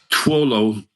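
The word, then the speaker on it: 陀螺: I don't know if you guys know, Tuolo is how you pronounce it in Mandarin.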